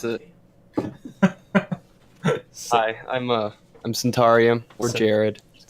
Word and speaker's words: Centaurium: No, it's the one where you don't pronounce it. Hi, I'm Centaurium or Jared.